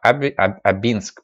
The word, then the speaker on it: Абинск: АБЕ нец есть житель так Абинск правильное ударение вот так никогда бы не подумал что Абинск правильно Ну